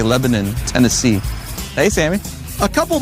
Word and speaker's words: Lebanon: It's spelled Lebanon, but here they say Lebanon, Tennessee.